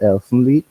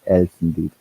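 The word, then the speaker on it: Elfen Lied: Um, one of my all-time favorite animes uh till today is Elfly. Um, sorry, Elen Lee. Mhm. That's how you really pronounce it.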